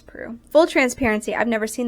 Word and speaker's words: Proulx: Brokeback Mountain by Annie Proulx, I think is how you say her name. They said it multiple times in the audiobook. I think it's Proulx.